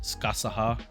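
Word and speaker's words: Scáthach: in uh she shows video um apparently it's pronounced skasaha uh i i i'm gonna have problems pronouncing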